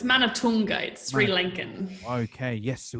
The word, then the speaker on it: Manathunga: me introduce the one and only miss madison mother thunder madison how are you i'm really well jono how are you yes i am amazing did i get that pronunciation right you're very close it's man of toongate sri lincoln okay yes it was a tricky